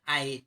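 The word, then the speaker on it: أَيْ: Bacanya ai itu dengan pendek dan dengan sukun ya.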